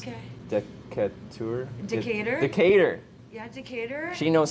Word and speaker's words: Decatur: Yeah, Decatur.